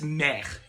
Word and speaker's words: mère: Yes, okay, so that's so it's like mother, it's mère.